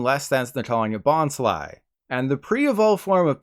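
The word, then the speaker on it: Bonsly: The pre-evolved form of Sudowoodo isn't pronounced Bonsley like Bruce Lee. Instead, it said Bon Sly like Sly Cooper or Sly Stallone.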